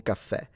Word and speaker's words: caffè: Yeah, un caf- Well, so, in Italian, it's with two F. Un caffè. In Sicilian, we do say it with one F.